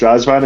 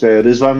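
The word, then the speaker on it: Răzvan: Like, by the way, I found out that apparently it's not pronounced Razvan, it's pronounced Rizvan Lucescu.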